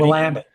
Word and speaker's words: Willamette: Willamette.